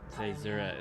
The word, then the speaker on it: Caesura: Caesura is how you pronounce it.